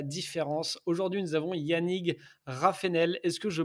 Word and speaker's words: Raffenel: veulent faire la différence aujourd'hui nous avons yannig raf enel est ce que je prononce bien ton demande famille déjà aux oies